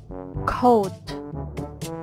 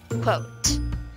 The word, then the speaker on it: quote: usually read it well I heard that some of you pronounced it this way cold cold you heard it right that was the incorrect way of pronouncing this word so what's the correct one then well it should be pronounced as quote again quote well done